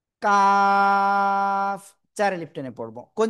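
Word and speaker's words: كاف: Calf চার আলিফ টেনে পড়ব। কোন জায়গা থেকে অক্ষরটা উচ্চারিত হয়? জিব্বার গোড়া এ গোড়া থেকে একটু আগে বাড়াবো। তার বরাবর উপরের তালুর সাথে লাগাবো। লাগিয়ে আমরা উচ্চারণ করব কাফ।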